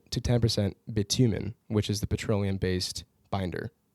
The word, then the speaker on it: bitumen: Asphalt composition is about 5% to 10% bitumen, which is the petroleum-based binder that they used. Is it called bitumen? Bitumen. I don't know. I think it is pronounced Bitumen?